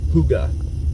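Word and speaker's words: hygge: golf golf Echo but it's pronounced Huga like the old horns and uh stuff on the old cars I uh just discovered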